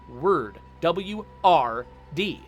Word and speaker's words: word: take the word word there's no vowel in the word word there's no you don't pronounce an o in there you don't pronounce an